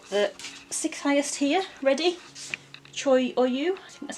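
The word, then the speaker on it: Cho Oyu: so I've got the six highest here ready Troy or you that's how you pronounce it I've done the sky and a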